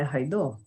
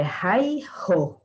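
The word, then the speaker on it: Raidho: Essa runa, vocês vão ouvir a pronúncia Raidô, mas dois runomancistas me disseram, Márcia, não é Raidô, é Raiho, Raiho, Raiho, tá?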